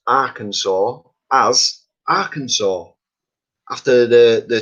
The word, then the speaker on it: Arkansas: it's the arkansas woodcutter i always thought it was our kansas now i've heard of arkansas i thought that was somewhere different so it's arkansas and i've learned lots